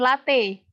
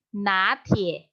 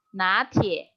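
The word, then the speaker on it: 拿铁: Nah, kalau misalkan kalian yang suka minum latte, itu bukan latte. Dia mengartikannya pakai na. Natie. Natie. Natie.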